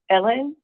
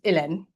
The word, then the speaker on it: Hélène: But as much as when I say Ellen and you're like, no, that's not it. You have, since I know you, you have made the effort to pronounce my name the way my mama pronounced it, which is Hélène.